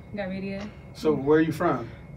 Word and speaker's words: Gavidia: Gavidia, is that how you say it? Yeah, it was Gavidia, but most people can't say that, so Gavidia.